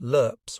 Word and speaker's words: LRRPs: It seemed to me the reason those LRRPs, pronounced LERPs, were in trouble was that Hunt hadn't followed proper deployment procedure.